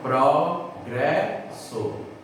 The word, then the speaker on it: progresso: tópico é palavra progresso qual é a sílaba tônica o progresso exatamente é paroxítona isso e tem aí